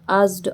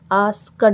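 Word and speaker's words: asked: आस्क होता है पूछना, आस्ड, आस्ड। आस्कड नहीं है ये, आस्कड नहीं है, इसमें ये मानिए कि के साइलेंट है, तो आस्ड, आस्ड। ठीक है, के नहीं है।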